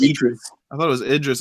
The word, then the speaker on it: Idris: Idris Elba.